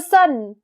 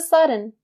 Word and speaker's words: sudden: You can also say sudden, or you can also drop the D sound and say sudden, like a majority of native speakers in North America.